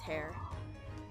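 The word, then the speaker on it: Herr: It's just hair. Okay. It's hair.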